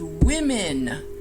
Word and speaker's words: women: We do know that it's the same sound for both vowels, and we then pronounce it correctly.